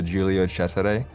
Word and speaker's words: Giulio Cesare: it's pronounced the Italian tier 5 battleship is pronounced the giulio cesare and right now for that for example I